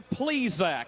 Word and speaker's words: Plesac: down trackside they said please correct your pronunciation he's named obviously for the baseball man mister please Zack and that's why he's